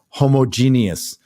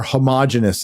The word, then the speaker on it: homogeneous: stone it's not uh as he says homogeneous or homogeneous as we Ugly Americans say uh it's it's it's